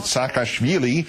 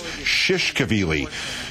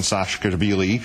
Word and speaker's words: Saakashvili: with the Georgian president, Saakashvili, who once nominated him, in fact, for a Nobel Prize, even though he consistently mispronounces his name as Shishkevili.